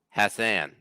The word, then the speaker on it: Hassan: There's also it's pronounced how Jay would say ass. Hassan.